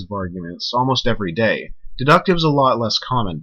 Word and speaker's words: deductive: are called deductive arguments, or deductive. We're just talking about them and not stressing the first syllable.